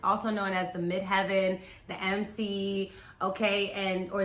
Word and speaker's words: midheaven: also known as the midheaven the mc okay and or the mid haven some people say it like that it's all up to you how you want to say it but it's the highest